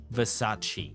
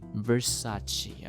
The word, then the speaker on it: Versace: okay okay the second one how do we pronounce it Versace Versace okay Versace sounds very very fancy and it is the